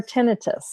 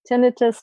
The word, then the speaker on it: tinnitus: they have dizziness or tinnitus tinnitus tinnitus depending what country you're from how you might pronounce this but if it's a